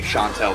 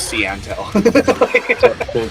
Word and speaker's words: Shantel: I do forgive me Shantel for butchering your name I seriously thought it was cantel sted eye I'm I'm